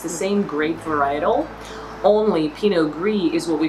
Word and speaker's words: pinot gris: for the most part the consonant at the end of the word is not to be pronounced unless there is a vowel after that okay i think that's